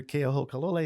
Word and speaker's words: Keohokalole: I said, "Well, it's Senator Keohokalole." He says, "Yeah, that's it. That's how it's pronounced."